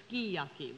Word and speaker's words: sukiyaki: The kind of restaurants that would not serve sukiyaki would serve skiyaki, which is the way it's pronounced.